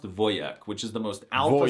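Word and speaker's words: wojak: The wjack meme and the word are Polish, but it's actually pronounced voyek, which is the most alpha Slavic masculine thing I've heard all month.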